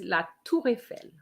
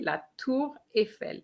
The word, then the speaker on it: la Tour Eiffel: Donc, the Eiffel Tower, Francine, is la Tour Eiffel for the pronunciation, okay? La Tour Eiffel, la Tour Eiffel.